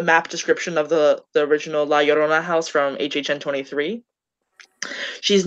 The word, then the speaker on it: La Llorona: Okay, I also did La Llorona, and I've been looking at it all day, and I knew for years that the 2 L's in Spanish words make a Y sound, but no one pronounces it that way.